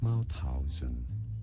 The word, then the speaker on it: Mauthausen: Mauthausen.